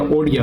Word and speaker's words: ओडिया: संबंध है कि भाई उड़िया है ना उड़िया भाषा मतलब एक मिनट उड़िया उड़िया को क्या किया ओडिया किया ओडिया भाषा सही उच्चारण है तो मतलब ओडिया ओडिया